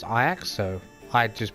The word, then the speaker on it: Ajax: Dutch team is a city in Holland called I acts not called Ajax pronounce I acts so I just pronounce